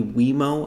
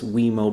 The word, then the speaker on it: Wemo: industry standard that will probably be wemo i think is how they they pronounce it um and this is